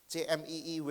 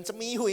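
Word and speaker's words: CMIW: Bukan cemiu ini bacanya C M I W.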